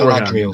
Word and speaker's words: Galadriel: So I'm still Galadriel. So it's Galadriel. Galadriel. Galadriel. That's it. Perfect.